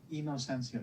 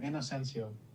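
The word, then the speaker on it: Inocencio: make sure i do yeah it's inosensio innocencio okay so i pronounced that yeah just very phonetic thank you appreciate that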